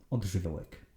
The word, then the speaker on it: Odżywiołek: Od, ż. Once again, w, which is pronounced similarly to English W, as in bottle of water. Ek. Written this way so that you don't pronounce it as ik.